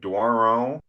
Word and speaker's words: Doiron: that right uh yeah it really depends where you are uh like daro if you're if you said